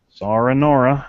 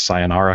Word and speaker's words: sayonara: Sara Nora, as a friend of mine used to say. He said his wife would never pronounce sayonara correctly.